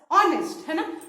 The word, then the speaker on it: honest: honest man fine though this wedding it starts with h but when you pronounce this word you pronounce this as honest so that o sound